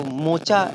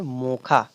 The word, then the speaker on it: मोखा: हम बोले कि मोखा, हालांकि इसका जो मोचा, इसका इंग्लिश का नाम है मोचा, लेकिन इसका जो इंटेंसिफिकेशन होगा और उच्चारण इसका जो होगा उसको हम बोलेंगे मोखा।